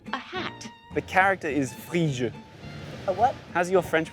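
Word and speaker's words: Phryges: Okay, P, silent P, H, R, Y, G, E, S.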